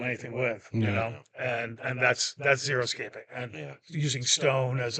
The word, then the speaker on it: xeriscaping: It's pronounced xeriscaping, and it's a type of landscape where you use mainly natives, and you don't need to use irrigation, and they are self-sustainable.